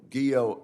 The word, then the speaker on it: Guillot: General Guillot, I note that your name rhymes with hero. Is that right? Yes, Senator, it does.